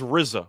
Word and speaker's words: RZA: he was absolutely right it's pronounced rizza we went through this